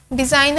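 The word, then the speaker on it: design: डिज़ाइन हम पढ़ते हैं डी ई एस आई एन, तो जो जी है हमारे पास वो साइलेंट लेटर है।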